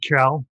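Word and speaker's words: Urquell: pilsner um from the czech republic it's uh pronounced cal it's u-r-q-u-e-l-l um but i did bring um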